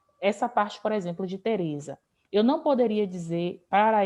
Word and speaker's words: Teresa: parte, por exemplo, de Teresa. Eu não poderia dizer para este e para os outros também, jamais, que a sílaba tônica de Teresa seria za.